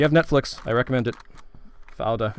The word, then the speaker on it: Fauda: Fauda, I think it's how it's pronounced, F-A-U-D-A.